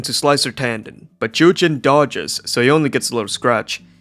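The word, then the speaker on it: Zhu Jin: And also, I just realized that the name's pronounced Jujin, not Zujin. I was saying it with the hard Z, but they don't do the hard Z.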